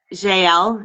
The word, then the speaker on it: Jael: Sanav was talking with Jael. Is that how you pronounce it? I say it's Zale, but it's not a big Jael.